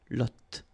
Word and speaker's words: lotte: And then la lotte, final E not pronounced, lotte, lotte.